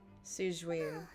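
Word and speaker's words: Sigewinne: Siegewein. Okay, that's how you pronounce it.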